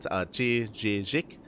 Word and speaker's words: Chijik: From my understanding, as Melissa did mention in the chat, Chijik. I think you're meant to pronounce the Z-I-K as like a J sort of sound, from my understanding, a little bit.